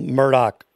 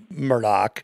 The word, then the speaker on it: Murdaugh: go to the low country where this whole murdoch thing is happening seton would you like to